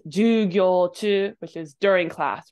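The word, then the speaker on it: 授業: Sorry, I did that wrong. It's ju and then gyo, short ju. This word here. And if you add naka to it, it's jugyo chu, which is during class rather than just class.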